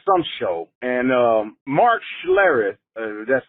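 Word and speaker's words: Schlereth: I don't know some show and um Mark schare that's how you say his name with his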